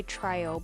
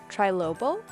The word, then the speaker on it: trilobal: say this word wrong I always say trial nylon but that's not even close to how it's spelled trilobal trilobal trilobal nylon and Tessa silk